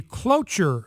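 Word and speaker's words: cloture: United States Senate now this is called a clure vote which is a vote that has to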